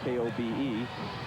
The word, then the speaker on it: Kobe: And eventually, after they took the name from that, K-O-B-E, people started pronouncing it Kobe, and that's what stuck.